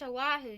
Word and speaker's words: Oahu: That's pronounced Oahu, dearie.